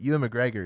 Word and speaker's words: Ewan McGregor: is playing black mask see i say his name wrong apparently but ewan mcgregor is going to that's how you say it